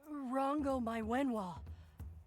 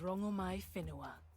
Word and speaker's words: Rangomai Finoa: Goddess Rango My Wenwa, what do I call you? My name alone will suffice. My name is Rangomai Finoa. Oh, we've been mispronouncing you the whole time.